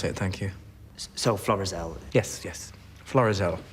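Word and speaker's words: Florizel: you said flores-el uh i i thought the pronunciation was verizon sorry no it's a floral street isn't that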